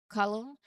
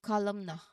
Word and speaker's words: column: Next is column. Similarly, the n is silent here. It's pronounced as column. We didn't say columna. Okay? We didn't say that.